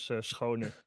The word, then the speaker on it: Schoon: Also, Schoon I pronounce it as Schone, but I will not do that to you.